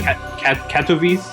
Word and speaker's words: Katowice: I was told I pronounced it wrong last time. It's of course you did. Katowice, Poland.